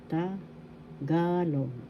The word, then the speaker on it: Tagalog: It is Tagalog. Tagalog. Tagalog. First syllable ta, second syllable ga, third syllable log.